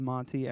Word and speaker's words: Monte: And it's the project's called Monte, MONTE. And I'm saying it right, like full card Monte totally.